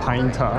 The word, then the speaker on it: Pineta: 哦，pine 塔。 pine 塔。哦，pine tree，然后塔。 Yeah。 OK。